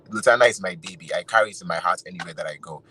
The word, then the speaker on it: Lotana: Lutana is spelled Lotana.